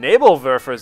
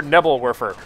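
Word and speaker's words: Nebelwerfer: veras out there now my pronunciation of that word in German was much criticized throughout all of my Company of Heroes online uh so I will try to say it right at least once uh nabal ver nabal ver ER Neer you um but for the rest I'll probably just call it something abysmal like nebs or nebble warer which is my common pronunciation there anyhow you can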